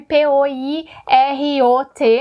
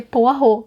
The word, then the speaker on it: Poirot: poirot poirot e não porque é um nome belga poot nasceu na Bélgica então a pronúncia vai ser poah e sobre poah versus